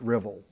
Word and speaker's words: Ruthwell: There's a very intriguing, and this is in your text too, monumental cross at Ruthwell. If we were in Scotland, they would pronounce it Rivell.